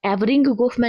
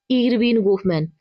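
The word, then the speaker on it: Erving Goffman: Sorry यहां पे एवरिंग गोफमैन लिखा हुआ है। इसका जो शुद्ध उच्चारण है वो है इरविन गोफमैन। तो इरविन गोफमैन ने मास्टर स्थिति की अवधारणा दी है।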